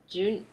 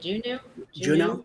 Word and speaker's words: Juneau: We went to June. How do you say it? Juneau.